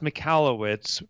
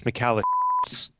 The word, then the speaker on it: Michalowicz: Yeah, so it's pronounced Michalowicz, but if you're an old high school friend of mine, it's Michalowicz. that was my nickname in high school.